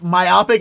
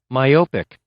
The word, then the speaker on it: myopic: Let me make sure you can hear this pronunciation, and we'll see. We'll decide on if myopic is just our Baltimore accents going in there, or if it's everyone's been saying it wrong. Myopic, myopic, myopic, myopic.